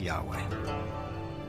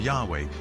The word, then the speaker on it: Yahweh: So his title, in a sense, was God, and his name was these four letters, which in English would be YHWH, which we think were probably pronounced something like Yahweh.